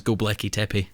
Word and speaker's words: Göbekli Tepe: I'm really into Göbekli Tepe. Oh, that place in Turkey. Yeah, I like The so. one that everyone keeps mispronouncing is Göbekli Tepe.